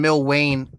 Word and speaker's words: Milwayne: So I did get that correction, Milwayne, in Discord. I missed it, but I got it now, so I'll pronounce his name right.